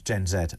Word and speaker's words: Gen Z: to hear that you refer to them as gen Zed as well uh there are those who seem to take the American pronunciation which I don't think that should be allowed just finally to a